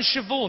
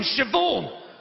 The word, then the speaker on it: Siobhan: There's no V in Siobhan. Where does the H go then? It goes after the B, obviously. Fuck are you talking about? BH is pronounced V.